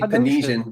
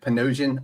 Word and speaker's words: Panosian: And then he was I like, always "Yeah, say Panesian because that sounds okay to me, but Panosian, all right, now I know.